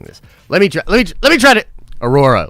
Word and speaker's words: Aurora: Aurora, like I said. Trev's over there pronouncing it Ahura like an idiot.